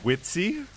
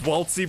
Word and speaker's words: Waltzy: Did you just call him Witsy? Witsy, yeah. Look, I'm going to mispronounce pretty much everyone's name in this. Don't judge me. It's Waltzy, by the way, but we'll keep Witsy